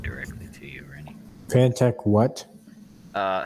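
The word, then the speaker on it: Phanteks: can send it directly to you or anything pantech what uh fan text but it's spelled p h a n t e k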